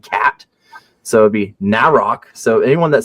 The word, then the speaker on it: Naerok: symbol is um like is supposed to be pronounced like the ah and cat. So, it would be narok.